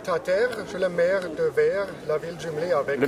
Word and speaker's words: Wehr: je le maire de vert la ville jumelé avec le maire de verre de verre qui s'écrit donc c'est pas comme un verre chez nous mais un verre W HR d' c'est ville à